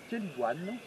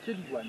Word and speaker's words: chélidoine: Euh alors aujourd'hui, on va parler de cette plante qui s'appelle une keliguan les amis. Elle s'écritane mais c'est une keliguane.